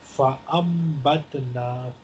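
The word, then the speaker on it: فأنبتنا: Here you see a very small meme written on noon. So we will not pronounce noon, but we will pronounce meme. فَأَمْبَتْنَا فِيهَا حَبَّا.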